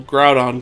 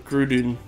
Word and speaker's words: Groudon: from the anime and they call groudon gruden gruden like that's literally not how you pronounce it pronunciate those names